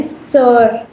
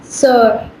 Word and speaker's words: sœur: Sister को French में कहते हैं सर. Please repeat, सर.